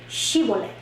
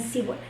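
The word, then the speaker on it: Shibboleth: No podían decir Shibolet, decían Sibolet. Y eso le costó la vida a 142,000 hombres de la tribu de Efraín.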